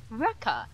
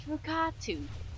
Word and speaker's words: Rukatu: It is not Ruka. It's not Rukata. It is Rukatu. Ru-ka-tu.